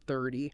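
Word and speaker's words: thirty: Like differentiating between 13 and 30. Oh, that one's huge. The key is the stress. With 13, the stress is on the second syllable. With 30, it's on the first.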